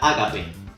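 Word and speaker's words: ἀγάπη: viene de la biblia en griego se pronuncia ágape y significa amor de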